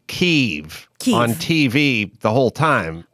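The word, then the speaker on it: Kyiv: own country just pronounce it the way we pronounce it but ukraine say keeve so we say oh i was curious about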